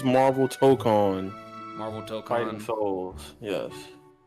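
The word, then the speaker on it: Tōkon: Like to token what are we calling what's official pronunciation? It's Marvel TCON.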